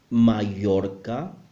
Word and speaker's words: Mallorca: Most Spanish speakers around the world will pronounce the double L as a Y sound. For example, llamarse, me llamo. Mallorca is also possible.